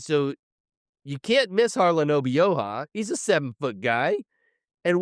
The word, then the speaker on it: Obioha: And this isn't King McClure's first WVU call, but my man was dead set on calling Harlan Obioha Harlan Obiaho.